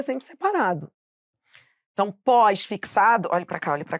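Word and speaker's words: pós-fixado: tudo junto só que a pronúncia correta é pós fixado então agora qual vai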